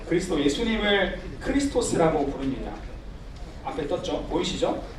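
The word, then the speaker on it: Χριστός: 생 드시죠 여러분가 뭐냐면 헬라어로 어 그리스도 예수님을 크리스토스 아고 부릅니다 앞에 떴죠 보이시죠 그 엑가이 발음이 크리스토스 크리스토스이 엑스는 바로 크리스토의 크리스도 예수님의 첫 번째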